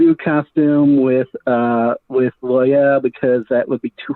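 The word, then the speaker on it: Loial: i am very interested on the take on loyal uh i hope i'm pronouncing that right yeah loyal yep yeah so when he shows up they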